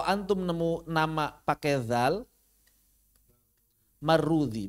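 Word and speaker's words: Marrudhi: Kalau antum nemu nama pakai dzal marrudzi bacanya ini. Marrudzi kalau pakai dzal. Kalau pakai dzal marrudzi. Kalau pakai zai marwazi.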